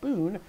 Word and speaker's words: Poon: my betty poon i've been saying pun but scott jernigan informs me the proper pronunciation of your name is boon so that's what i'm